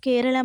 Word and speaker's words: கேரளம்: சரி, இப்போ எதுக்காக பெயரை மாற்ற வேண்டும் என்று சொல்கிறார்கள் அப்படின்னு சொல்லி பார்த்தால், மலையாள மக்களின் உச்சரிப்பில் கேரளம் என்று உச்சரிப்பார்கள். ஆனால் ஆங்கிலேயர் ஆட்சியின் போது அவர்களுக்கு உச்சரிப்பு சுலபமாக இருக்க வேண்டும் என்பதற்காக தான் கேரளம் என்பதை கேரளா என்று மாற்றி அதிகாரப்பூர்வமாக எல்லா இடத்திலேயும் பயன்படுத்த ஆரம்பித்து விட்டனர்.